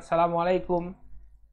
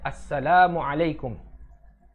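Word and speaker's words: Assalamualaikum: bertemu sahabat-sahabatnya dia mengucapkan asamualaikum ya yang benar itu pengucapannya Asalamualaikum kalau di Indonesia ee kadang tidak sesuai Panjang pendeknya dengan ucapan yang benar asalamualaikum Ya Asalamualaikum kumnya panjang ada wwnya asalamualaikum Ya padahal kalau kita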